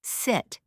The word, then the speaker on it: sit: For example, listen to the difference between sit and seat. Sit. Short i sound.